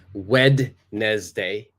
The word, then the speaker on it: Wednesday: correct we don't say Wednesday Wednesday we say Wednesday Wednesday so yes the D is completely silent and last one uh